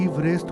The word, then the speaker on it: Everest: प्रचलित किया गया और इसलिए ब्रिटिश सर्वेक्षक के उपनाम के उच्चारण के अनुसार इसका उच्चारण एवरेस्ट न होकर इवरेस्ट होना चाहिए।